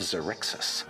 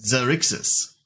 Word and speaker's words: Xerxes: And it's called Light of Xerxes. It is That's an how it's pronounced. all-new Light of D&D Xerxes. Obviously, Okay. Xerxes, Babs. How are you gonna say it? Xerxes.